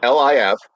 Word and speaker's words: Lifshitz: Well, it's spelled Lifshitz. Yeah. All right, just that way. I don't know. It sounds like something, but okay. And I'm obviously Americanizing. I guess the F would be a V, so Lifshitz.